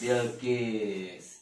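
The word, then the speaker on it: بلقيس: Nah, ba lam sukun wa kasroh bil. Kof sin sukun wa kasroh Kis. kis. Bil Kis. bilqis.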